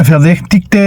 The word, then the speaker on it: verdächtigte: Recuerden que esta suena como E. Verdä, CH, verdäch. La CH suena como G. Verdäch, T, I, G-T-E, verdächtigte, el sospechoso.